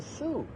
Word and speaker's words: Sault: spelled two different ways you'll find the su spelled two different ways si ult which is the French spelling out that's su sainte-marie and a lot of